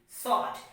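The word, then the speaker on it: sword: have is what s w o r d sort so now we have understood about w silometer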